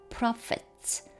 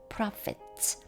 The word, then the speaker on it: prophets: 또 어떤 사람들은 prophets, ph가 여기서는 f 발음입니다. prophets. 그리고 또 어떤 사람들은 evangelists, 복음 전하는 자, 또 어떤 사람들은 pastors, 목사, and teachers, 교사.